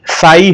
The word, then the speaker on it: psi: PSI, P silent होता है यहां पर, इसलिए साई हम इसका नाम देते हैं।